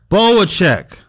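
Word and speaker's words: Bohachuk: Can I get the pronunciation on this one? Boacek.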